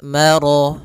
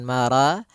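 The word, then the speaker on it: مَرَجَ: atau di antara keduanya maka rnya tebal Maro bukan Mara tapi dia Maro sempurnakan lafal rnya marjal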